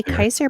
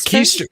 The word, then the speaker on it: Keister: I always say Kaiser pineapple. Is it? No, Keister? it's Keister. It's Keister pineapple. That was. I thought it was Kaiser, like Kaiser roll. No, it's pronounced Keister. That's what LC called him, was Keister pineapple.